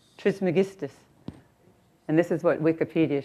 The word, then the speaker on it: Trismegistus: before him, and I don't know how to pronounce his name, who brought up this theory was Hermes Trismegistus. How do you say his name? Hermes Trismegistus. Trismegistus.